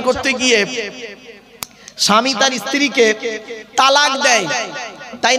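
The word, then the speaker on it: طلاق: ধর্মে স্বামী-স্ত্রী সংসার করতে গিয়ে স্বামী তার স্ত্রীকে তালাক দেয় তাই না আরে ভাই বলুন না শব্দটা কিন্তু তালাক নয় শব্দটা তালাক বলবেন না কেউ শব্দটা হলো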